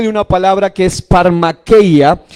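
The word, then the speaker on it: φαρμακεία: una palabra que es farmaqueía y que se pronuncia o se le farmaquía Y esa palabra farmaquía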